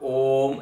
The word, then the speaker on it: ओम: जब आप ओम ऐसा बोलते हैं तो आप यहां श्रुति बताएगी आकार पर ज्यादा आपने ध्यान दिया अकार का दीर्घ उच्चारण किया और फिर उसको उ और म में विलीन कर दिया तो बोले ये अकार की प्रधानता से उच्चारण हुआ जैसे ओम अब इसमें